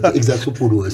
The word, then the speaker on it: Exarchopoulos: Exarchopoulos. J'arrive jamais à le prononcer. Exarchopoulos.